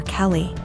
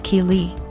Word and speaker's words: Keeley: more and I realized she was calling my daughter Kelly my daughter's name is Keeley pronounced Keeley so after school was